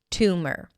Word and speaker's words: tumor: Two, like the number two, and my an M sound that shifts directly to the R. Tumor.